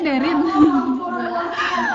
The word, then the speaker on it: Daren: Kata Daren tuh dibacanya Derin.